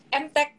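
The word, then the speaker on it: Emtek: Yang hari ini naik banget tuh, hype banget tuh MTech itu. Jadi dalam kota teknologi kode sahamnya EMTK ya. Dibacanya MTech gitu.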